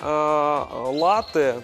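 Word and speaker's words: latte: Экспрессо с точки зрения латы то здесь однозначно всё-таки ударение на первый слог - это латы -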